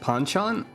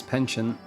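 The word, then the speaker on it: penchant: out on my own sorry that word is pronounced panchan I've been saying it wrong I thought it was pension I think it can be either maybe I don't know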